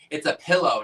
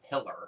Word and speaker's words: pillow: It's a pillow, not a pillar.